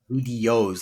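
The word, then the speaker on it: Vidyoze: It's spelt with a V Is that a I D. tool? Yes, OY, like videos, like VIDDYOZE, like yos, right? So Okay. one of those quirky spellings, videos.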